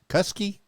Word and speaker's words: Kuskey: collaboration with Angie custody kuskey because rhymes with Husky was it rhymes with Husky oh okay so it's Angie kuskey I know you got